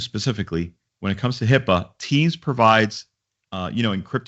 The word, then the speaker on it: HIPAA: our doctor's office that talk about Hippa uh Hippa which is spelled hi P AA is the health care